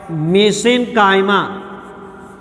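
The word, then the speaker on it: mesenchyma: Connective tissue, connective tissue अर्थात संयोजी उत्तक, और इसी में आता है एक वर्ड मेसेनकाइमा। मेसेनकाइमा उच्चारण में इसे मेसेनकाइमा भी पढ़ लेते हैं कुछ लोग, और मीसेनकाइमा भी पढ़ते हैं।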